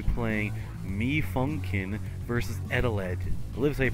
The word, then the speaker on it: Eteled: we're going to be playing me funkin versus edelege livesay pronounced it really it's just called adeled and yeah this is based off a creepypasta